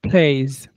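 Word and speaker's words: plays: এখানে প্লে আমরা এস যুক্ত করলেও সাউন্ডটা কিন্তু এস না। সাউন্ডটা জেড এর মত হবে। প্লে আমার সাথে রিপিট করো প্লেস ওয়াচেসন্ এখানে আমরা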